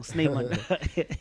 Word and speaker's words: Snymaan: That's where you book the guy, Snymaan. Snymaan, eh? Snymaan, yeah. Snymaan, yeah. I didn't say it wrong. Snymaan.